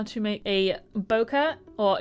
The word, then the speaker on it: bokeh: how to make a bokeh or it's technically pronounced bouquet but you know I say boa I wanted to know